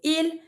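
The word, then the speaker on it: ils: if it's they masculine I'm going to say e and if it's they feminine say l okay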